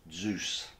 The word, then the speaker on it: DZUS: In this little film, I'm going to try to unravel the mystery of the DZUS fastener, spelt DZUS, pronounced Zeus, otherwise known as the quarter turn fastener.